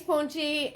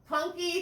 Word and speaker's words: Punky: do the same thing thanks punchy i got your name wrong again punky thank you so i'm